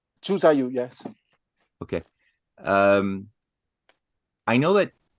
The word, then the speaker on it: Zhu Zaiyu: I guess I have one question regarding Vincenzo Galilei and how do I pronounce it? Zhu Zaiyu? Zhu Zaiyu, yes.